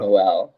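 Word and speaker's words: Nowell: Is it Noel or Noel? Noel. Yeah, Noel.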